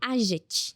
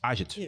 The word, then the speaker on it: AGET: com o Rogério da AGET. AGET. Isso. Ou AGET. Tanto faz. AGET. Obrigada por terem vindo. Geralmente as pessoas, né, falam AGET. A gente já não... É AGET, né, a pronúncia correta.